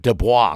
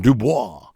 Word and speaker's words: Du Bois: I pronounce it Du Bois because it's a French name, and I like to sound like some effete Frenchman. Du Bois.